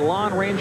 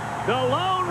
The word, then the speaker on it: Lōn: extra added attraction The Lone Ranger that is pronounced lone but it is spelled L o n we were calling it long-range earlier is the Lone